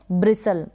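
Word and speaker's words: bristle: ई को प्रोनाउंस नहीं करेंगे, लास्ट में है, और टी यहाँ पर साइलेंट है, ब्रिसल बन गया।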